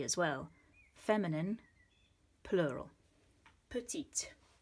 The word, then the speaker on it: petite: When you do have an E on the end, it means you pronounce that.